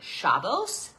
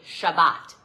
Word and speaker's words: Shabbat: And it was funny, we were at, even as an example, so Ashkenazi Jewish people say Shavos and Sephardic say Shabbat.